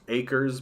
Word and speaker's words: AHCRS: making an ultra left group pronounced acres but spelt ahcrs that stood for armed